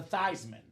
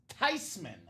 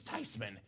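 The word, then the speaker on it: Theismann: Joe changed his last name from thesman to thyman you know what the grandma said she said I'm not mad at all but it's all been a lie the proper pronunciation of the family name is tyman it's not th it's notman if you want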